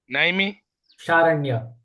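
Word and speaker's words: Naimisharanya: Naimi Sharanya. Naimi Saranya.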